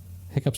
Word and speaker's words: hiccough: Hiccups turned into happy ups. Happy bubbles. Happy bubbles. Bubble. Yeah. Did you know in England they spell hiccough? COUGH? Yeah. They say it hiccup, but they spell it hiccough.